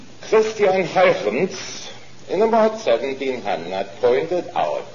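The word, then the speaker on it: Christiaan Huygens: I'm going to pronounce it the way he did.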